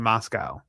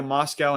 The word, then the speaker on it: Moscow: The Poles marched all the way to Moscow and sacked the city. You you pronounce it like moss and the thing that eats grass and we get milk from Moscow.